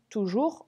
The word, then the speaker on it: toujours: Attention, toujours, regardez, il y a un piège, il y a le S qui ne s'entend pas mais qui s'écrit.